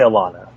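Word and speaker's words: Alanna: I say Alana.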